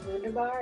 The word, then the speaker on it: Wunderbar: By the way, Wunderbar, in German it's Wunderbar.